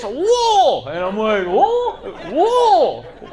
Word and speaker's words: Louisville: I was like, oh, I landed over at Muhammad Ali International, drove through Louisville and they're like, IT'S PRONOUNCED LOUISVILLE.